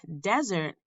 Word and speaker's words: desert: end to a dinner the two words sound different because you put the emphasis or stress on a different syllable in each of these two syllable words if we wanted to describe desert and dessert in feet